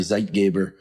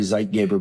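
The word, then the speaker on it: zeitgeber: light is the primary zeit Gaber it's my terrible German pronunciation for timekeeper when you eat when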